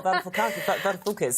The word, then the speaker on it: Varoufakis: Yes, that's the Greek Finance Minister, Yanis Varoufakis. I probably pronounced that terribly wrong. You pronounced it very well, Varoufakis. That's very good.